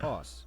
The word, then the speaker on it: osu!: The official pronunciation is OS, as confirmed by the developer.